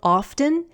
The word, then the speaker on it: often: For example, the adverb often is commonly said without the T in American English. Often.